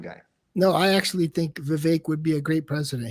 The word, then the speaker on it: Vivek: I can't even say his last name, but Vivek. It rhymes with cake.